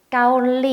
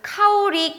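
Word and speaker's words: เกาหลี: 많이 들어보셨죠 한국이 되요 요것도 가끔 뭐 카오리 까 우리 요렇게 발음 하시는 분들이 있는데 중간에 보시면 롤링이 있으니까 꼭 릴 리 일로 발음을 해 주셔야 되요 아시겠죠 그 다음 두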